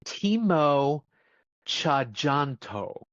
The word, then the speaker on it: Timo Tjahjanto: It's Timo Tjahjanto. So apparently the TJ in Indonesia is CH.